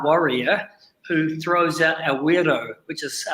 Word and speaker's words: wero: involves a taiyaha warrior who throws out a weirdo which is spelt w-e-r-o and they we invite the visiting